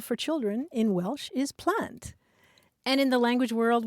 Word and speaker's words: plant: either but the Welsh word for children is plant p l a n t oh how cool